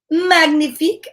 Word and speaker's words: magnifique: anything look uh fancier magnifique i say that's french for magnificent you say it like this now why wasn't that